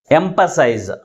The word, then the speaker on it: emphasize: But which syllable is pronounced with a greater force? M. That means third syllable from the last. Why? Because this word ends with IZE suffix.